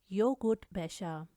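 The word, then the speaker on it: Joghurtbecher: Yacht इसको हम य की तरह प्रोनाउंस करते हैं। zum Beispiel योगुर्ट बेशा, योगुर्ट बेशा दही की डब्बी।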